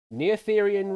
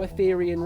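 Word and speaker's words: Noetherian: And your three answers are Dopantene equation, Netheran ring, and Gaussian elimination. Mob, start locking your answers in. Which of these mathematical concepts is named after a woman? Is it Dantine equation? No, no Athetherian ring properly pronounced.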